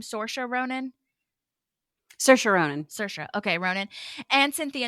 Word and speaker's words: Saoirse Ronan: She was also in this movie with, how do you pronounce her name? Saoirse Ronan? Saoirse Ronan.